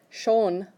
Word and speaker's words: schon: Schon, like the sun shone outside, that pronunciation, that means already.